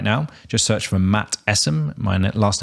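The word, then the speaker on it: Essam: Just search for Matt Essim. My last name is spelled E S S A M and just connect.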